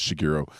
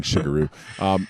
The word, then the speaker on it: Shigeru: Even when Shigeru was, I always say it wrong, but I know it's Shigeru, but I like saying Shigeru.